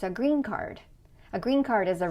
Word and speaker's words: green card: It's not a green card, it's a green card.